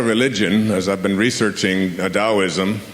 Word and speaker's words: Taoism: As I've been researching, Daoism, which is spelled T AO, I Smo, the Dao.